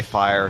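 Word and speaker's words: Fijre: AKA Fire, spelled with a J, F-I-J-R-E.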